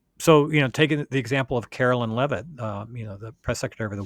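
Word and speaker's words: Karoline Leavitt: So it's Carolyn Levitt is her name. Yeah. I don't want you to have to have that missing Sure. there. Yeah. Okay. Um, so, taking the example of Carolyn Levitt, the press secretary of the White House, like,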